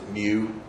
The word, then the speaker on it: mu: of helps me remember you pronounce it mu so mu is the